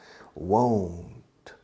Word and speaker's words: won't: contraction will not won't it's difficult for you to pronounce but you need to close the O is I know it's difficult but you need to make an effort because if you don't it sounds like want career of this air